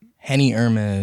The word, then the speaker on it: Henny Hermes: Do you pronounce it Henny Hermes or Henny Hermes? Like, how do you say it? Henny Hermes.